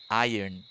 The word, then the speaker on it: iron: I've been pronouncing the R more like a Y. Iron. Yeah. I guess for us, the R actually comes between the O and the N, if that makes sense.